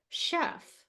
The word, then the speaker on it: chef: even even in English if you see a CH sometimes it's pronounced sh so this word is pronounced in English Chef like the same you